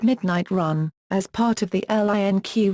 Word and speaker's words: 12AM RUN: In May 2013, it was announced that Nas will open a sneaker store in Las Vegas called 12 AM Run, pronounced Midnight Run, as part of the LINQ retail development.